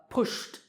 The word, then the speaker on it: pushed: Pushed, pushed. Here the last sound is sh, so pushed.